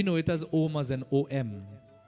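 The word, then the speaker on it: ॐ: has almost an OM I want you to see it as om as an AUM three different vibrations uh you activate all of the energy centers in your body when you chant um three syllables represents Brahma vishnuar Mahesh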